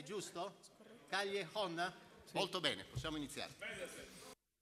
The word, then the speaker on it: Callejón: Allora, come si pronuncia il tuo cognome? Io non lo so. Callejón. Non ho capito? Callejón.